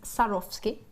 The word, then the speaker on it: Swarovski: Swarovski jewelry number one it's cuz it's pronounced sarosi but number two is